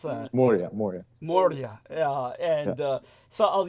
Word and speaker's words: Moria: How do you pronounce that? Moria.